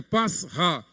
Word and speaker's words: Pessah: Queridos, Páscoa literalmente, lá do hebraico é Pessah, Pascha, a pronúncia mais correta, Pascha, que significa literalmente passar por cima de, saltar.